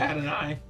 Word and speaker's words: Adonai: I thought it was Adonai. Is it Adonai? Adonai Mitchell. It's Adonai, but I think he was by AD Mitchell.